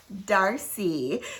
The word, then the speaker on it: Darcy: of hoffman's demarlie and it rhymes with marcy so guess what it is darcy so y'all darcy is